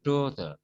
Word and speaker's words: daughter: Yang kita sering salah yang anak perempuan ini daughter, G-nya nggak dibaca atau G-nya silent letters, tidak dibunyikan. Oke, ini yang kedua. Daughter. Ini yang di blok ini berarti stresnya ada di situ. Daughter berarti di suku kata pertama.